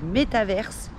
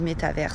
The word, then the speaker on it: métavers: Aujourd'hui, je vais vous parler du métaverse, ou en français en fait du métavers, puisque théoriquement il n'y a pas de E en français, mais moi j'avoue j'ai l'habitude de le prononcer à l'anglaise, donc voilà, je dis métaverse, c'est juste une habitude et vous dites comme vous voulez.